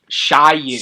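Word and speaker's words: Shyu: However, one sage who remains loyal, Shu, how do you pronounce his name? Shu? Shiyu. Shiyu, helps Aang to reach the sanctuary where he is to speak with the past Avatar.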